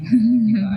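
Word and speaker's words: Deepa: Tadinya tulisannya DIPA, takutnya diplesetin gitu kan, Dipa ID. Nah, makanya kita ngambil cara penulisan India, double E. Oh, Cuman oke. bacanya tetap Dipa.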